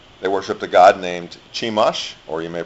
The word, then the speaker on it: Chemosh: They worshipped a god named Chemosh, or you may pronounce it Chemosh.